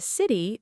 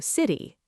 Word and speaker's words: city: And city may sound closer to city.